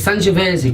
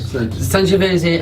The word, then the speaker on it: Sangiovese: I'm not sure how you pronounce the grape. It's Sangiovese grape. Sangiovese, and it does have